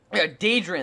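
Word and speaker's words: Dadrian: this team, especially with uh oh Jesus, how Drien, that's how you pronounce it.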